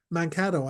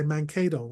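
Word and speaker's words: Mankato: Tim Walls Tau me how to pronounce manato I used to say Mano all the time so thank you for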